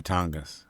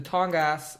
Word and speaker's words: Tongass: You know, if Bigfoot exists, it would probably live in the Tongass or the Great Bear Rainforest, which is next door in British Columbia.